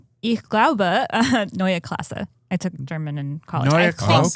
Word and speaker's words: Klasse: a ss e, which you say is class.